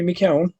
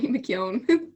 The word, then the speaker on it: McKeon: another round of shattering with the tubs mckeown mckeown i said your name wrong tell him your name mckeon thank you i got it right but i